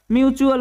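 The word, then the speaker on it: mutual: अगला वर्ड है हमारा एम यू टी यू ए एल इसे हम क्या पढ़ेंगे म्युचुअल पढ़ेंगे जिसका हिंदी मतलब होता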